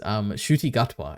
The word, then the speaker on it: Ncuti Gatwa: Ncuti Gatwa, I think is how you pronounce his name.